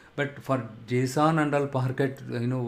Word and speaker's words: Parquet: Okay, and if you are lucky, the customer is giving you .json file or Parquet file. Parquet is the T is silent here.